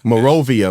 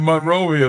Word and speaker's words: Monrovia: but I I went to high school in Monrovia, California. That's like a not really a suburbs of Los Angeles, but it's a it's a part of Los Angeles outside the city. Okay. Morovia.